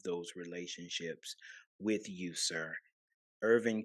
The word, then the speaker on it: Hervin: Or you can reach me by Facebook, Hervin. The H is pronounced silent, so it is HERV as in Victor IN, last name Okay.